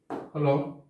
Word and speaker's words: whole: এরপরে হলো শুড। এই শুড, এখানেও কিন্তু ডাব্লিউ উচ্চারণ হয় নাই।